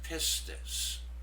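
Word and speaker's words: πίστις: The pronunciation of this word is pistis, faith, trust, or belief.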